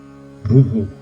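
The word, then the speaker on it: bhūḥ: the first mantra bu echoes the preceding vow and is therefore pronounced buho.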